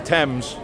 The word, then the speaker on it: Thames: It's spelt Thames, River Thames, but it's the Thames, the T-E-M-S, River Thames.